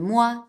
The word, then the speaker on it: moi: Please don't pronounce the O and the I separately, it's just wa, like in moi, toi, or choix.